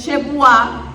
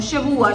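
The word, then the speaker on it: שבועה: Y la palabra hebrea que ha sido traducida como juramento es shebuá, no shebua, shebua es semana, shebuá con acento en la A, shebuá, eso es juramento.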